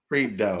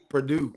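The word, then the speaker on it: Prideaux: Yeah, I would I would have said Purdue, but Purdue. Yeah, I wouldn't have got that. E Au is O in French. Oo, Barbara. Oo. O. And the X in French is silent because it's pluralizes the word.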